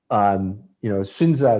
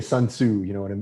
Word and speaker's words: Sun Tzu: If you look at the art of war, Sunza is how they pronounce it in Chinese. We say Sun Tzu, in America, but I think the Chinese pronounce it Sunza, the art of war.